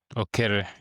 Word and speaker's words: Okere: Today we are joined by Okere. Off screen, we had just been talking about how to pronounce his name. It sounds like mine, Okelo, but Okere.